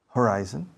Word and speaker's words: horizon: It's gray from horizonte a horizonte. How do you say horizonte in English? Fácil. Horizon. You don't understand? You want me to repeat? Horizon, horizon, horizon, horizon. Horizon, pero la pronunciación is horizon.